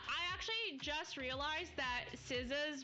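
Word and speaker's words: SZA: I actually just realized that Siza's pronunciation is Siza. I've been calling her Zah like this whole time.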